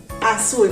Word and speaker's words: azul: Azul, ¿verdad? Azul. Entonces, azul, ¿dónde llevará la mayor fuerza de voz? Sul, muy bien, la mayor fuerza de voz es sul, en mi última sílaba.